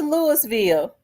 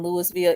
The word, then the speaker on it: Louisville: gun to kill his hater shout out to Louisville I got an uncle that lives in Louisville it's always cold in Louisville I know they